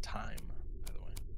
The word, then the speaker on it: thyme: Pronounced time.